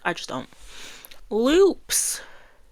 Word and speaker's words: Lupe: Loops. Lupe.